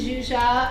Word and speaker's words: Zsuzsa: app to follow um so my name is zuzia i have this crazy hungarian name so if you can't pronounce it you can just call me c